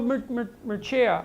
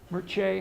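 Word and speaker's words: Mircea: of years yeah well machiya I think I'm saying that right some Romanian wrote me the other day and tried to teach me how to say it Mirchi I think that's right le ah de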